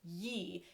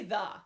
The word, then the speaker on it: ye: like yield shop right you might have thought why ye it's really the that y is standing in for a thorn which makes a fuss